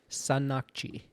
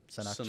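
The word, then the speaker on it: Sannakji: it is pronounced Sanakji. Snaakji.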